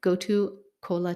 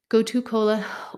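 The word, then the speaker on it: gotu kola: to co kind of it's pronounced Cola but with a K almost like koala but anyways goto Cola T but it's with a K goto Cola or centella um is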